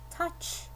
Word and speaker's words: touch: Touch. T-U-C-H. It's phonetic spelling again because this O is silent.